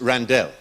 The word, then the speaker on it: Randell: Randall Randall what was that my name is pronounced Randall oh I'm sorry mr.